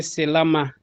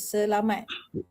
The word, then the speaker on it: selamat: Oh, so we don't mention the last letter here. The the P the T. We just say salama. We don't say salamat. That correct we just say selama. We say the the T the T word selamat.